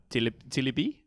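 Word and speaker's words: Tébily: Tebele. It's got an accent on the E. It would be more Tilibi.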